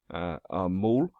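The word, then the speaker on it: ਮੂਲ: formula for repetition mul mull pronounced to rhyme with the english word pull means root it is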